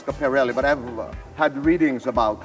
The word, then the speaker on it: Schiaparelli: This is a Schiaparelli couture gown. Is that how you pronounce it? Schiaparelli. Yes. Schiaparelli.